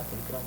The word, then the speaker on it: Prohibido: pronounced. Yeah, Prohibido.